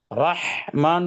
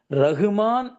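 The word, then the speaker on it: رحمن: 2வது இந்த ரஹ் அப்படிங்கிற இந்த ஹ. ரஹ்மான் தான் வரணும். ரகுமான், ரகுமான் வரக்கூடாது.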